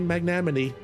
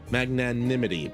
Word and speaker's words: magnanimity: And continuing to strive for peace, Julio's leaders have shown great magnamity. Magnamity. Magna Magnam. Magnanimity. Magnanimity. That's it. Magnanimity. And I can't help but be moved. Magnanimity. I knew I was missing a syllable in there.